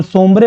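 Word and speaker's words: Sombre: तो सोम्ब्रे बाद में लोकली प्रोनाउंस होने लगा समरू के नाम से।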